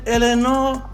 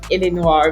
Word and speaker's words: Eléonore: V so it's a very different way of pronouncing it but I'm elor Elenor okay Elenor yeah exactly yeah okay okay